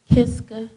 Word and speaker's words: Kiska: It's Kiska, like the mountain in Africa. It's Kiska, but it's spelled different.